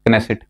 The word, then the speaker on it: Knesset: So it is called as Knesset, Yes, or some pronounce it as Knesset.